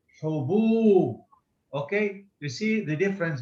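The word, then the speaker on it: هبوب: Haboob. Very good. Haboob. Now, please notice the way she pronounced it, ha, ho, and this ba, hubub.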